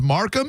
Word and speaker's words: Mecum: It's pronounced Markham. MECUM. Markham something. Yeah, Markham something like that. I mean, looks like no, I don't go there though. Meekum to me, like MECUM.